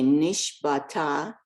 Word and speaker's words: נשבעת: The ayin is silent. Okay, nishbata, Good.